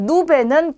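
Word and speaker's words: nube: 자, 그 다음에 누베는 구름입니다. 그리고 나리스는 코예요. 코. 우리 신체 부위 중에 코 있죠. 자, 그래서 전부 다 그냥 니은으로 발음이 되는 거죠. 그래서 노체, 누베, 나리스 이렇게 발음하시면 돼요.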